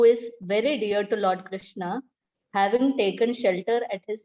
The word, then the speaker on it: Krishna: called the maha mantra pronounced krish na and rama rhymes with